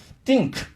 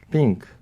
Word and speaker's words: think: 그렇죠 예 그게 바음 그렇게 안 되면 어떻게 돼 띵크 예 싱크가 돼 싱 응 지금 원장님은 하실 래도 안 되시는 거 같은데 그래서 그 다시 한번 발음 한번 해 보세요 원래 발음이 아니면 지금 아니 뭐 아까 내가 가르쳐준 대로음 혓바닥 좀 사용하고 예 아이 think 잖아요